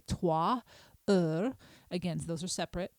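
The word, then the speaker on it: trois heures: I do pronounce that S, and a single S sounds like the buzzing of a bee. So you would say 3 heures, 3 heures.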